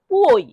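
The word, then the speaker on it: puoi: অর্থ এখন আর পুই পুই এটার উচ্চারণ কি পুই পুই অর্থ তুমি পারো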